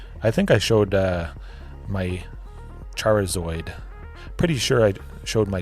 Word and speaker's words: Charizard: Oh, there's the foil Charizard, or the Charizard. The Charizard. Pronounce the I. Extra emphasis on that.